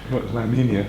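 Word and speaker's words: La Niña: La Nina.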